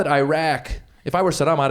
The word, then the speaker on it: Iraq: He called it Iraq. If I were Saddam, I'd have been pissed. I'd be like, hey, if you're going to bomb us, at least pronounce it right. It's not Iraq, it's Iraq.